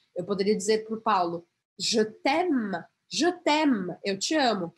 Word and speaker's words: Je t'aime: pronuncie também, por exemplo, jetem, errado. J, j. Porque eu praticamente não vou pronunciar esse e aqui. Lembra que e no final das palavras eu não vou pronunciar?